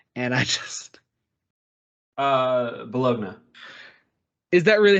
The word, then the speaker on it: Bologna: Okay, I don't want to say this last name wrong, but it's spelled like baloney, and I just. Bologna.